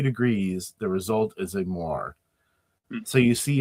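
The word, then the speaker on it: moiré: Moires, is that how you pronounce it?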